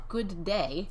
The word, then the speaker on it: g'day: You say g'day, but you know what that actually is? It's good day. Right, it's all smashed together.